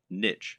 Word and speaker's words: niche: Or, to use the correct internet business parlance, what is your niche, or niche as some people pronounce it?